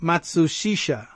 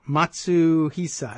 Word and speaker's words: Matsuhisa: Japanese celebrity chef Nobu Matsuhisa, I'm sorry. I've got that wrong. Matsuhisa.